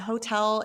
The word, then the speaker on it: hotel: in Spanish is that hotel is almost the exact same word. It's hotel, it's written the same. We just don't pronounce the H because remember, the H is silent in Spanish.